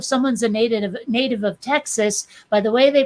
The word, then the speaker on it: Texas: a native native of texas by the way they pronounce the name of their state because everyone else pronounces that s like an s but if you're in texas it's a z just say and you